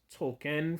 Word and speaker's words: Token: character you know uh everybody knows token's name is actually pronounced Tolkien from the author and you know Stan